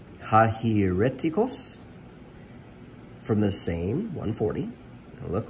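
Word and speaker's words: αἱρετικός: um it's the greek word right there it's pronounced hajireticos from the same 140.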